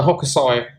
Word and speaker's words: Hokusai: And she also sent me this gorgeous lunar card, which I fell in love with, from the Hokusai, that's how you say it, the guy who did the famous wave painting, tarot.